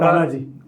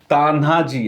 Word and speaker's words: तान्हाजी: example घेतलेल आहे तर तानाजी तान्हाजी आता इथं स्पेलिंग इथलच चुकलेल आहे ते तान्हाजी अस आहे एच नाहीय